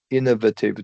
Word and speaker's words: innovative: Uh innovative you would say. Oh. Uh, innovate. Innovative. Innovative. Innovative technologies. Yeah. In innovative. Yeah. Emphasis on the first syllable.